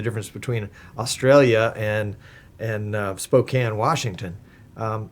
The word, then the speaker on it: Spokane: you know the difference between Australia and and Spokane Washington um how do you pronounce Spokane yeah Spokane okay uh Spokan Spokan